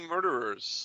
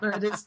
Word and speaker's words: murderers: Yeah, the Mahogany Murderers. That's right. Well, then you said it right. So many mispronunciations. No, it's not murders. It's murderers.